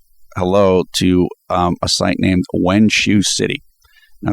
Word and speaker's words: Wenxue: Finally, I want to say hello to a site named Wenshu City. Now, it's not for English speakers. It doesn't sound the way it's spelled.